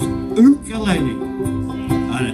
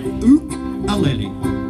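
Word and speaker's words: ukulele: to play is his o aele o aele that's how they say it in Hawaii you got to have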